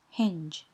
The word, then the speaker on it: hinge: E, I or Y, then G sounds like the letter J, and not the usual sound G. For example, gently, hinge. Again, the letter E is at the end of the word and it is silent.